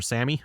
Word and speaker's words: SAME: the same fortis actually i think it's called sami isn't it or something or sammy sammy i believe that's how they actually like pronounce it over in europe there but uh at least in american english everyone that would be pronounced same uh same fortis 190